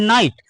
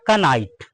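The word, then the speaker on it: knight: क्या होता है नाइट इसको पढ़ते हैं नाइट पर जिसको नहीं पता वह पढ़ देता है क नाइट क्या पड़ता है कनाइल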